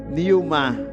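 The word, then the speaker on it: pneuma: En espagnol, c'est Numa mais la prononciation c'est Newma.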